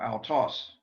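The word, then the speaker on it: αὐτός: in certain circumstances, but we pronounce it altos. Notice a diphthong, and notice that the smooth breathing must be there, but in the case of a diphthong, we have one sound.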